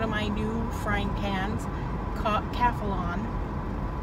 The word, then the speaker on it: Calphalon: my new frying pans Calphalon Chrissy reminded me that I kept saying it wrong on yesterday's video call upon I kept I think I keep saying qualified anyway my new hands